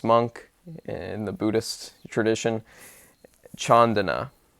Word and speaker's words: Candana: His name is Bhikkhu, which means monk in the Buddhist tradition, Chandana, and it's spelled Candana.